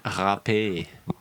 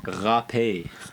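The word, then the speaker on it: râpée: What is poutine râpé? I don't think that's how that's pronounced. I think you said that wrong. What is it? It's râpé.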